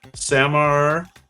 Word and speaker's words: Samarkand: Samarkand.